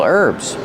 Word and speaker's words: herbs: names of some real herbs here we have a list of herbs we see the silent h kitchen herbs the first one is